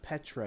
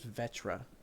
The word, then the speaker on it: Vetra: her name wrong you're it's not Petra it's Vetra with a V God I cannot remember